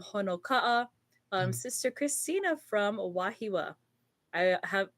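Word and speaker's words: Wahiawā: um Sister Christina from wahiwa I have I'm so tempted to say wahi AWA sometimes that's the wrong pronunciation but you just want to say how it is um we have also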